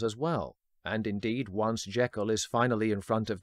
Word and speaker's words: Jekyll: In this film version, Henry's surname is pronounced Jekyll, supposedly the way Stevenson said it when asked by reporters.